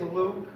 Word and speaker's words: Luc: But it's okay, because it is Luke, but just don't spell it L-U-K-E. Spell it L-U-C. Just like my name, L-U-C, Luke.